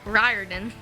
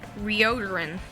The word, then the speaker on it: Riordan: I used to pronounce his name a little bit differently before we learned that it's pronounced Riordan. I pronounced it Rioderin.